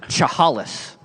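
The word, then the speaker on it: Chehalis: from Shahaliswah asks, I think it's pronounced chahalis.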